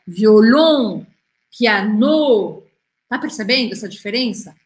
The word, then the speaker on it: violon: E quando não é com um E que termina, a sílaba forte é a última. Então, olha só. Violon.